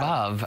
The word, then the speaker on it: Veuve: And remember, on this Wine Club Wednesday, it's Veuve. Veuve rhymes with love.